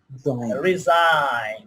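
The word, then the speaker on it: resign: তো আইজিএন থাকলে তার উচ্চারণ আইন হয়। আইন কি হয়? আইন। এক্ষেত্রে জি অনুচ্চারিত থাকে। যেমন ডিজাইন, কি বলতে পারি? রিজাইন, রেইন, pain.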